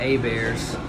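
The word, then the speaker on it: Hébert: get that wrong there's a family called the a bears spelled like herbert but it's a bear the propriety of the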